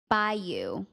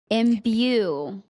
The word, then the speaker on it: imbue: Let Are me you on see how chat it or learn to pronounce. Bayou. That wait, doesn't sound like right. BAY? I'm trying to listen to it. Imbue. Imbue.